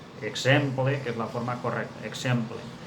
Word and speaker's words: exemple: és la forma correcta, exemple. Però que en el carrer pronunciem de mil maneres diferents, que no estan acceptades. Exemple, eixample, example, aquestes formes no estan acceptades.